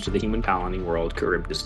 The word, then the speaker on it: Charybdis: Charybdis. Yeah, because that's definitely the way I think it should be pronounced. We were saying like Sharbidis.